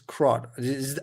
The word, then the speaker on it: CRUD: What is CRUD? Am I pronouncing create, read, update, delete?